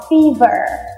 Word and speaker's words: fever: đã có dặng là bất cứ khi nào cái chữ r của chúng ta nằm ở sau một nguyên âm thì các bạn luôn luôn cần phải cong lưỡi lên Tức là chúng ta phải đọc Fever Ok nha rồi hãy